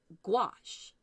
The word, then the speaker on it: gouache: you ever pronounced goulash like goulash that noodley dish from Hungary Hungary it's very similar to that if you're in the UK or Europe here in the United States we tend to say gouache hard G and then it's like wash as in Oh wash our